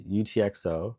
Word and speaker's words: UTXO: into a single value the phrase utxo pronounces letters stands for unspent transaction